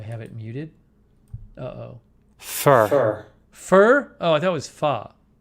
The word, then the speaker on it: pho: you're in la check out fa vt it's pronounced far right far let's see hold on i can't hear it do i have it muted uh oh fur fur oh that was pho this says fur